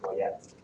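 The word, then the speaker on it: Goyette: This year, the board has selected Sandra Coyette, Go O Yo T, pronounced Coyette, for her tireless work with Golden Harvesters, a nonprofit providing meals and serving low-income families in our community.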